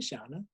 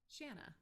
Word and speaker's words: Shanna: forward to seeing you shawna did i see it right this time it was close it was close it rhymes with banana oh santa shanna yeah janna well yeah